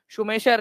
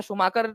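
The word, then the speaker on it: Schumacher: ठीक है, उसके बाद में 1974 के अंदर में शुमेशर या शुमाकर जो प्रोनाउंसिएट किया जाता है उनका, उनकी पुस्तक स्मॉल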